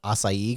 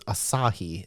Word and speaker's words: Asahi: for a while, and I kept calling it acai because I didn't know how to pronounce it. Yep. So it's Asahi, 0%.